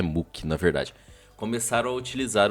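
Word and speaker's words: MUCC: Os fãs ocidentais de bandas mais críticas e ácidas, como Caligari e Muck, M-U-C-C, eu não sei se a pronúncia correta é Muck, na verdade, começaram a utilizar o termo como uma descrição do gênero em que a banda se encaixava.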